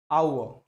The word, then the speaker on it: hour: People pronounce this word in different ways, but the right pronunciation of this word is our, है ना।